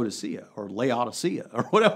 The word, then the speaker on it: Laodicea: starts with an L Laodicea okay you said Laodicea I I would have looked at the Greek and said loud Asiya in law Oh -